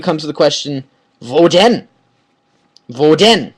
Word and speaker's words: denn: Okay, so then from there, Krokodil comes to the question, wo denn? Wo denn? This den is like then in English, okay?